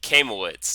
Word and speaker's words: Kaimowitz: have to help me with your name camel woods did I pronounce that correctly awesome all right and thank